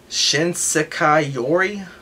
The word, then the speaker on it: Shinsekai Yori: At least they let it recommend free Shinsekai Yori.